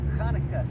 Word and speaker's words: Chanuka: with a CH because when it's a CH, it's pronounced with a Ch, you know, like Chanuka, you know, like that.